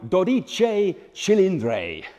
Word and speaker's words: Dodici Cilindri: because you've got a new pry horse to pronounce meet the Ferrari doich chilr 12 cylinders and since they've named the entire